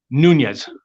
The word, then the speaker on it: Nunes: I pronounce it Nunes.